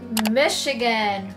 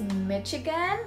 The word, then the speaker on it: Michigan: So I heard it very often that people actually say it as Michigan, just like Chicago. So it's actually pronounced as Michigan. Michigan, not Michigan, okay?